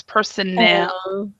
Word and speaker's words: personnel: There's two pronunciations. We have personal and personnel. So that you need to make sure that this is stressed, and it's L. It's personnel. Personal.